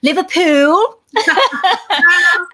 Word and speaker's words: Liverpool: So you were actually born in Liverpool, and I'm going to have to do it and just tell people it's actually pronounced Liverpool.